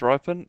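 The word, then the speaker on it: Rypien: Sam, how do it's you fell in a pronounce his couple of name? games last year. It is Ripon?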